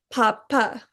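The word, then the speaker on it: pappa: Each letter in a double consonant is pronounced. For example, the word spelled P-A-P-P-A in English would be pronounced papa, but in Italian is more of a papa.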